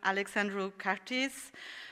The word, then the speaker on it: Alexandru Cartis: So for the next one, I really wanted to make an effort and pronounce the name correctly, but he said to me that even Romanians do not pronounce it correctly, so I pronounce it the English way.